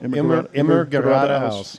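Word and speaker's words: immer geradeaus: Immigrata House.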